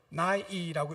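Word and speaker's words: ναί: 예란 헬라 원어로서 나이라는 단어입니다. 나이라고 읽습니다.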